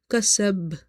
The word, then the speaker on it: كسب: Kasab, last letter is your qalqala letter, okay, and it's having sukoon because we're pausing, so we make it sakina. So in this case the qalqala will be strong. not strongest like the b, but strong.